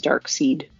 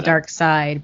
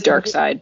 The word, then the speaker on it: Darkseid: i also for many years thought that you pronounced dark side as dark seed but i had to go with this dark side but it is dark side but okay but it felt different right yeah